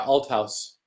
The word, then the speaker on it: Althaus: to paul and i had asked for the pronunciation paul altos outhouse right yeah alt house um is and your dissertation was on paul